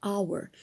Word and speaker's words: hour: But here, this word begins with a silent H. So an hour. So if the word begins with silent H like honor, for example, or honest mistake, okay? So these words contain silent H. So you have to say an hour and honest.